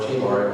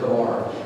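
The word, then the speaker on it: Chebar: He's called at the river Kabar, or Chabar. I think mostly the best way to pronounce it is Kabar.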